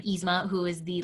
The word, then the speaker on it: Yzma: Dopey, Scar, Stitch, Dory, Yzma, I believe is how you say her name, Yzma, who is the like evil queen in The Emperor's New Groove.